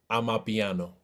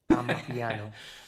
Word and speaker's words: Amapiano: Amapiano. Amapiano.